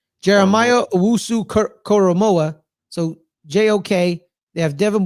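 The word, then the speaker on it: Jeremiah Owusu-Koramoah: Jeremiah Owusu Koromoa.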